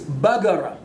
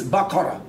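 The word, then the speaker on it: بقرة: In Saudi Arabia, a cow is bagara. In Syria, it's bakara, with kuf.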